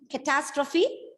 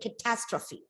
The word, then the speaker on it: catastrophe: a verb and catastrophe catastrophe what do you mean by catastrophe yes sriram sudden disaster a sudden disaster so the stress is on the second syllable catastrophe okay very good then